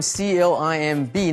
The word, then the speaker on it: climb: 这里我们来学 climb。climb C-L-I-M-B 呢 B 不发音，所以攀爬的这个动词 climb。We climbed a ropes